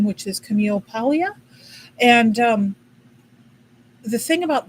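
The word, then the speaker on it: Camille Paglia: somebody up there told me the how to pronounce her name which is Camille Palia.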